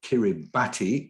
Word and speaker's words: Kiribati: That's the island atoll called Kiribati. That's how it's spelled phonetically, pronounced phonetically.